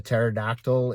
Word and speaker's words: pterodactyl: So I was wondering, have you ever heard why you can't tell when a pterodactyl is in the bathroom? Yeah, it's because the P is silent.